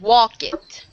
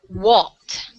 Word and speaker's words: walked: When it would really be walked. Walked. We Walk. pronounce like Okay. a T. Like a T. Right. Walked. It kind of sounds like it, even though it's an ed at the end.